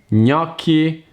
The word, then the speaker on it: gnocchi: The second very common mistake is GN, N. N is like a single sound. These two consonants plus a vowel make a single sound, and the G is silent. It's similar to the NY sound that you make when you pronounce canyon. Some words with the GN